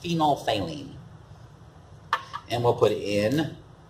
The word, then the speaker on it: phenolphthalein: It looks like phenolphthalein. But it's pronounced phenolphthalein.